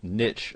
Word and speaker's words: niche: And the first and foremost, you'll need to decide what your niche, or niche as some people pronounce it, is going to be.